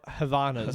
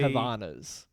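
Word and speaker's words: Havaianas: Havianas or Havanas?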